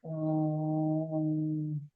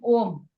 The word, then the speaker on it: Om: So here, when we are saying Om, Om, we didn't move our lip, so it's 1 syllable.